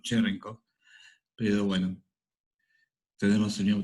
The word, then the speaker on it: Cherenkov: Estoy casi seguro que la forma correcta de pronunciarlo es Cherenkov, pero bueno, tenemos el mismo problema que tuvimos con Huygens.